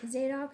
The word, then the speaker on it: Zadok: Ahimaaz, the son of Zad- Zad- Zad- Zadok? Zadok? How to pronounce Zadok? Zadok said again to Joab, "But whatever happens, please let me also run after the Cush- Cushite?